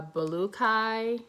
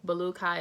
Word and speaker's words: Baluiki: how to pronounce it uh belukai balukai is what i've heard some of the other dolls on youtube saying to belukai um i